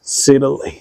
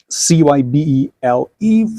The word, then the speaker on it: Cybele: So the English name Cybele from Google is pronounced as Cybele. But the Chinese writing, after you key in and you convert to the English version of the name, is pronounced as Cybele or Cybele, which I would prefer to go with Cybele because, well, it sounds nicer.